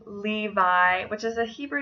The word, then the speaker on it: Levi: of the year 2014 it was the name Levi which is a Hebrew name that means joined this thing can also be pronounced levy I do have a friend from Israel whose